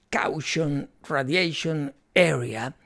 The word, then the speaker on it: Caution Radiation Area: italiana, que fue Aria Caution Radiation Area, pronunciado en inglés porque está en inglés, que es un disco